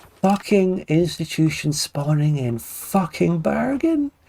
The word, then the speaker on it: Bergen: How do you pronounce it? Hold on. Bergen.